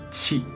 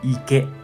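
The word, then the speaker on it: 池: Y pronuncia onyomi chi. Chi. Kunyomi pronuncia ike, ike.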